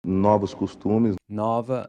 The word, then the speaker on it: nova: One thing to note here is that “**NO-vos**” and “**NO**-**va**” are pronounced with an open O, as in the “awe” in “BOS-ton”.